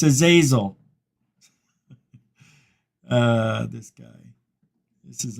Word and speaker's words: Azazel: his women is named Azazel oel he said it wrong it's a zazil ah this guy this